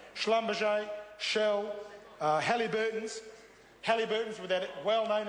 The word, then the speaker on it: Schlumberger: Schlumberger, which, with all due respect, Mr Young didn't quite get the pronunciation right. Schlumberger, Shell, Halliburton's with that well-known international reputation for good faith and ethical conduct.